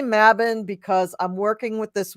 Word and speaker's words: Mabon: mabin here yes um so mabin has many pronunciations now the witch that I work for up at the Renaissance Fair is a I mean she's only like 10 or 12 years older than me but she seems like the quintessential Crone you know she has long white hair and beautiful you know like uh she's just it she is it and uh she pronounces it mabin but she is a